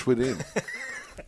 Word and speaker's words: Swedien: And I finally got to figure out how to pronounce Bruce Swedien. Yeah, Bruce Swedien.